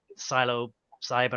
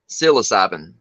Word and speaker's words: psilocybin: it was LSD or Silo Simon or whatever you pronounce it or something I like that say again psilocybin psilocybin um so his father